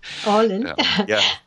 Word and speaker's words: Åland: Åland.